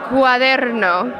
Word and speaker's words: cuaderno: Let's say cuaderno. Cuaderno. That's close enough. Cuaderno. Roll your R's, girl.